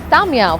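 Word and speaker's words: Ta'ameya: Tamia, which is falafel, also rhymes with my name Kamiya.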